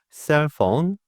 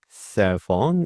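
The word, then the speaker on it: cell phone: 번째 단어입니다 휴대폰 영어로 셀폰 셀폰 이렇게 말을 하죠 한번 따라 읽어 주실까요 휴대폰 셀폰 휴대폰폰 그렇습니다 여기에서 셀폰 발음 하실 때 알파벳 PH 이렇게 돼 있죠 PH 발음은 이렇게 윗니를 아랫입술에 살짝 되시고요 이렇게 말을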